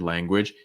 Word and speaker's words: language: be careful with language this word language is that the last sound is voiced j j language language